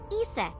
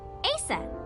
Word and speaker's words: Isis: Mom is named Isis. but in ancient Egyptian, it's pronounced closer to Ise or Ase.